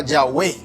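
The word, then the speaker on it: Yahvé: el nombre de dios de ahí que se le se le ponen vocales y de eso h w sale la palabra yagüe llave que termina hispanizado sé como jehová y significa yo soy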